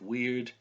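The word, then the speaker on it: wyrd: It's pronounced weird.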